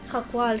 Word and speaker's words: Jaal: a buscar al jaal se pronuncia así jaal s vaya nombre Dónde